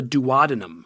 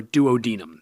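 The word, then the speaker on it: duodenum: The first part, the most proximal, which is the part right after the stomach, is called the dadinum or duodinum. Either way you pronounce it is fine.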